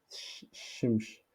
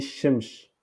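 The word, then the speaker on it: شمس: Il a mis ici shimsh. Donc, c'est faux. Donc, la correction est shims. Shims. Shims. Il faut supprimer H pour prononcer shims. Parce que ici, comme ça, prononce shimsh.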